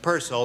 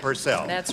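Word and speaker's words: Purcell: up you know pel the English composer pronounced his name pel not purcel right what do you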